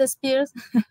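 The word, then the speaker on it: Aspire: es net space eh yo lo pronuncio space me cuesta un poco la pronunciación es como como no es Britney Spears es net Spears as bien lo que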